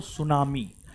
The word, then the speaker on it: सुनामी: ना व है आपको सुनामी तो आप हेडिंग मारिए सुनामी सुनामी सुनामी T silent है ठीक है टी साइलेंट